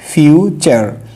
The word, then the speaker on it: future: এর পরে হচ্ছে ইউ, যার কারণে ইউ থাকলে টি এর উচ্চারণ চ হবে। এখানে টি আর ট ধরা যাবে না, এখানে ধরতে হবে এটা চ, তাহলে হবে ফিউচার, FUTU, ফিউচার না, ফিউচার, ফিউচার।